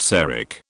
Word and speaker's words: CK: give him The Alibi Mr CK pronounced cak he was famous for